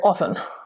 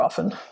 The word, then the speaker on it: often: In this case, with the word often, this is why we have two different pronunciations that are correct. First, speakers will say often. I go to the store often.